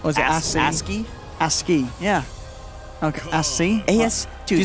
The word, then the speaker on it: ASCII: creative you call it asci I not aski asky yeah okay as you say asky orc aski it's aski it's asky okay it's an acronym right you know I